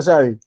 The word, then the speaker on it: Sadie: Es Sadi Sadie. Raquel. Sadi, Sadie, se pronuncia Sadie. correcto. Ah, ok.